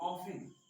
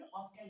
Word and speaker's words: often: जैसे ऑफन, OFTEN, तो इसको क्या पढ़ेंगे, ऑफन पढ़ते हैं ना कि ऑफ्टन पढ़ते हैं, क्यों, क्योंकि यहाँ पे क्या है कि साइलेंट होता है।